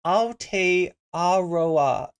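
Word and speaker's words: Aotearoa: this connection to uh it's pronounced Al aroa Al aroa okay nice I learned something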